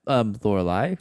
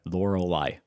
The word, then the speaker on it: Lorelai: Also, hi, I'm Lorelai.